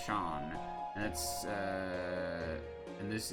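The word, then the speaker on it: Seam: Uh, the name Sheen, pronounced Shawn, and that's uh, and this is my little shop.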